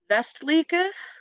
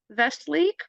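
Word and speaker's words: Westliche: I'm gonna go with I know Germans pronounce W's as V's so that's all you're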